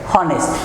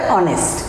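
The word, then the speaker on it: honest: দ্বিতীয় বাক্যে দেখি আমরা লেখা আছে হনেস্ট, কিন্তু ইংরেজিটা উচ্চারণটা কি করে, অনেস্ট। সুতরাং অনেস্ট যদি হয় তাহলে এইচের উচ্চারণটা কি হয়ে গেল, বিলুপ্ত হয়ে গেল, তাহলে কি বসবে, এন বসবে।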